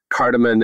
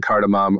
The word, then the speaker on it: cardamom: And also I learned that cardamom and cardamom are like both acceptable pronunciations of that spice.